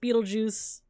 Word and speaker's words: Betelgeuse: Something like our own star, or Betelgeuse, or even that's supposed to be pronounced Beetlejuice.